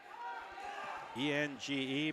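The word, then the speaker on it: Enge: E-N-G-E, pronounced Eng, and it is Ryan from Lisbon.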